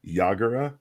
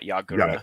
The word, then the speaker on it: Yaga: this is like masamichi yagara and it's yaga and not yagura yaga they pronounce it differently in the anime i don't know why